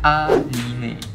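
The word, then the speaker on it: アニメ: Mari kita mulai topik pembahasan kali ini dari sejarah terbentuknya kata anime.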